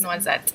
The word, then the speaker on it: noisette: Second is noisette.